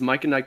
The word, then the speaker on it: MicahNike: uh my name is mike and nike productions i might just spell it spell that out it's like mike yeah oh it's m-i-c-a-h-n-i-k-e productions